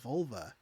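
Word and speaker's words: vulvae: a bunch of vol it's pronounce v it's v u l v a e Volve Vol like larve yeah uh but you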